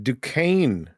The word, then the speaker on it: Duquesne: Yeah, says that Duquesne is pronounced like the French.